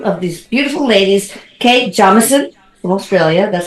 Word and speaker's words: Jameson: Two of these beautiful ladies, Kate Jameson from Australia, that's how you pronounce it, and of course Ginger Bailey.